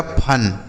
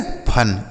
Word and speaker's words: fun: FUN इसे पढ़ा जाएगा फन। ठीक है, फन, इसे फुन नहीं फन पढ़ेंगे।